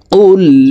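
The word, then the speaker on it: قُلْ: কুল ইয়া আইয়ুহাল, কফ লাম পেশ উল, কফ হরফের উচ্চারণ জিহ্বার গোড়া তার বরাবর উপরের তালের সঙ্গে লাগাইয়া পড়তে হবে।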